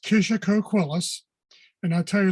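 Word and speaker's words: Kishacoquillas: just for everyone here see the name it's pronounced kisha coquillus and i'll tell you a little bit about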